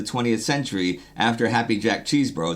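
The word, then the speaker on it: Chesbro: And Woods, 49, is the second most of the 20th century after Happy Jack cheese bro. That's actually how his last name is pronounced in 1904 who started 51.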